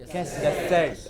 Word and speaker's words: cassette: Cassette. It is cassette. The first syllable is hardly heard. It is not ka, it is just ka.